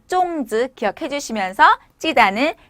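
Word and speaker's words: 粽子: 발음은 쫑즈.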